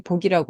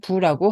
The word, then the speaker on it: 覆: 이것도 훈음이 두 개예요 엎어지다 할 때는 복이라고 발음하고 또 덥다 할 때는 뭘 덮어 가리다 할 때는 부라고 합니다이 엎어질 복자는 덮을 아짜와